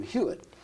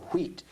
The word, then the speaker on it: Huit: He decapitated the H, and it became Huit, so that many people pronounce our name Huit or Wheat in French.